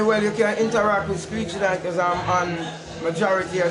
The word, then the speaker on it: Screechy Dan: Screechy Dan, and it's spelled SCREECHY. Make a song out of it. DAN, not DON, DAN.